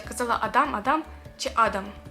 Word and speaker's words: Адам: казала Адам Адам чи Адам його звати Адам наголос на перший склад якщо що і в цьому восьмому